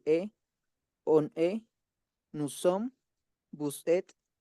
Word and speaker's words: vous êtes: Atención. Vous êtes. Hasta la T. Vous êtes. La E y la S no Vous se pronuncian. Oui. Vous êtes. Et. Vous êtes. Que suene la T.